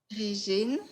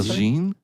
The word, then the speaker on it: Régine: How do you pronounce your first name? Régine. Say it again. Régine?